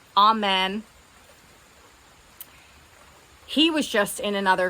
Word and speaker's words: Amen: It's spelled like Amen.